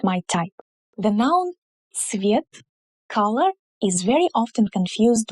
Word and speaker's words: цвет: So when pronouncing it, be sure to say ц, the same sound that we have in the word pizza. So it's ts together, ц, and not just s.